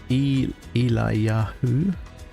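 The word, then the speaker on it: Eliyahu: it on fire uh my name is pronounced eli yahoo is that better thank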